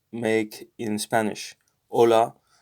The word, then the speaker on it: hola: letters make in spanish hola uh silent as in the h island as in our so hola we don't